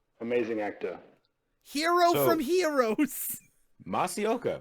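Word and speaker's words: Masi Oka: Masaoka, right? Isn't that how you say his name? Indeed, Masaoka.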